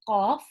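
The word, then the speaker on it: ق: So look at how I say qaf in comparison to kaf.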